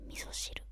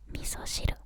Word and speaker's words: miso shiru: In English you say miso soup, but in Japanese you say miso shiru.